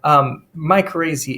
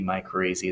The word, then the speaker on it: mycorrhiza: There's something called Mycrazy. And the answer usually to that question is absolutely I am. But beyond that, that helps you just pronounce it. Mycorrhiza is basically where fungus